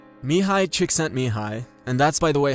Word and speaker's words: Mihaly Csikszentmihalyi: MIHALY CSIKSZENTMIHALY, and that's by the way how you say